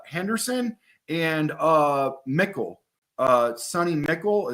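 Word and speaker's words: McCall: and uh mckl uh Sunny mckl is that how you say his name Mi c h e l yeah sunny mckl and Henderson they both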